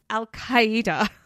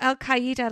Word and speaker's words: Al-Qaeda: Al-Qaeda. I think that's how it's said. Al-Qaeda, like hyena.